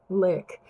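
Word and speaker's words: Lique: I've got different colors, but they're from a company called Lick, and it's spelled L-I-Q. I really do have, this might have worn off. It's L-I-Q-U-E, Lick.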